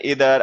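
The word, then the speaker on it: either: अब जैसे इधर वर्ड है, अब इसका तो चलो प्रोनाउंसिएशन है इधर आइदर दोनों होते हैं, ठीक है, मैं भी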